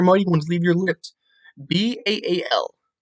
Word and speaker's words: Baal: People will say it like ale with a B. That's not how you pronounce it. If you properly pronounce it with phonetics, the A carries a ah or aw sound. So all, just like how you